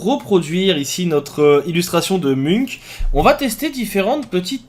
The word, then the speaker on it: Munch: nom depuis des années ce n pas Munch mais bien Munk ce tutoriel vous permettra